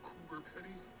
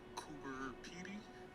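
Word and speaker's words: Coober Pedy: The place we're at right now is called Coober Petty, or in Australian English, Cooper Pey, which is an Aboriginal phrase that means white man's home.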